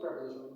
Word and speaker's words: preposition: pronoun বুঝবা তো এই প্রপোজিশনের পরে প্রোনাউন হয় এটা মাথা রাখবা এটা মাস্ট প্রিপজিশন বলে অনেকে আমি প্রেপজিশন বলি উচ্চারণটা মূলত প্রেপজিশন তো প্রেপজিশনের পরে তোমার